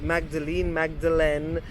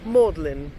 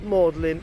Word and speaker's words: Magdalene: But she came to me and said, no, it's called Magdalene. And Magdalene College is famous because it's got a very particular spelling compared to its pronunciation. So Magdalene is pronounced Magdalene in this case.